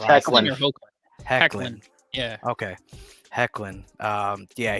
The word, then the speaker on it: Hoechlin: But either way, Tyler, is it Hoechlin? Brick? Do you know? I have no idea. I just know he's awesome. I don't know his name. I don't know. I think it's pronounced Hecklin.